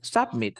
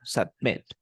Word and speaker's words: submit: Al final se dice submit. No es submit, sino submit. Submit. Ajá, submit. La fuerza de voz al final, en met.